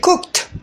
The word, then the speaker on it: cooked: Contoh, cook menjadi cooked. Jadi akhirannya bukan d tapi t.